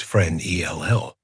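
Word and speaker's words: Fresnel: It slid over the placard about Augugustine Jang Frenel, pronounced friend E L, across the framed black and white of the keeper in his peacacoat over the door then around again.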